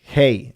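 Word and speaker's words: hei: Hey is pronounced like a slow hi.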